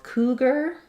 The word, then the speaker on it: cougar: that word leopard um for cougar OU says the u sound first syllable stress cougar letters AR say ER there again so a lot of